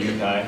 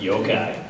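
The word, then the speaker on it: yokai: cool mystical magical creatures the yukai I probably mispronounced yoai yo-kai uh in in to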